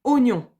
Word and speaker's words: oignon: nyon hu à nyon alors couramment on dit oignon 1 c'est un oignon mais ça s'écrit ou à nyon ne l'oubliez pas quand on l'écrit faut pas que ça vous gêne dans la lecture alors attention la ga